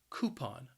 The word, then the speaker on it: coupon: word has two syllables and the stress is on that first syllable and that first syllable can be challenging because that cou is just pronounced as ku coupon a coupon then we